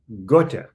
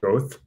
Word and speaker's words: Goethe: Goethe, which people mispronounce Goethe, but it's okay.